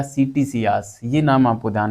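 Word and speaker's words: Ctesias: में रखनी है ठीक है देखो कैसियस या सीटी सियास यह नाम आपको ध्यान में रखना है कैसियस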